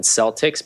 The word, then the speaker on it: Celtic: sea salt so it's it's spelled exactly like the Boston Celtics but they pronounce it Celtic sea salt and the reason why